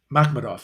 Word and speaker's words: Makhmudov: Makhmudov, yes. I always have a problem pronouncing the guy's name. Makhmudov.